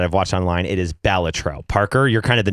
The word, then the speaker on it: Balatro: And you specified that is the correct pronunciation of that. Compared to ChatGPT and YouTube videos that I've watched online, it is Balatro.